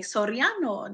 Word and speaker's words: Soriano: caught my attention because he was like Soriano like rolled the r and I was like hey you got it right whatever so I met